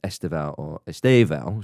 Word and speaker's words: Estêvão: And there were plenty of chants with regard to Estêvão, should we say, the stress on that syllable, or Stephen, as I like to call him, because that's basically what it is.